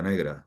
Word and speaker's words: Negre: Negre. Bueno, sí, pero el apellido Negre en catalán se pronuncia Negra.